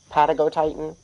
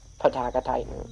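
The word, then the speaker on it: Patagotitan: Um, actually it's Patagot Titan, not Paka Titan.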